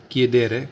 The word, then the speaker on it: chiedere: और ले सकते हैं हम जैसे किधर है, CHIEDERE, किधर मतलब होता है पूछना, आस्क, टू आस्क, पूछना। तो वही देखिए CH है तो CH को क्या पढ़ेंगे, कै, और फिर I तो किए देर है मतलब पूछना।